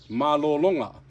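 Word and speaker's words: mālōlōga: So a word for to rest is malolo. So you'll see macrons on malolo on like all three of those syllables to emphasize all of them. And then when you add the nga, you'll see the macrons again, and it'll be malolonga.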